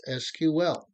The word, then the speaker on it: SQL: me deal with pronunciation the proper pronunciation for SQL is just that three letters SQL stands for structured query language you might hear me and others refer to the language as SQL I will do excuse